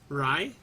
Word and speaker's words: Rai: Alright, we got a Saheeli Rai, or Ray, depending on how you pronounce it, I guess.